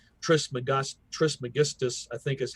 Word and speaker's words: Trismegistus: Trismegistus, I think is how you pronounce it, who is very prevalent.